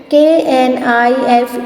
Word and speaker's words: knife: KNIFE, knife. K is silent.